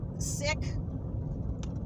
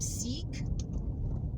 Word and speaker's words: Sikh: um people that were sick you know as in um middle eastern you know philosophies so i call him seek a lot of people call him seek but the proper pronunciation is sick and i hate using